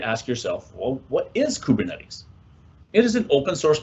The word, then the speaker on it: Kubernetes: In its written form, you might also hear it referred to as its numeronym K8S, but most people just pronounce it Kubernetes.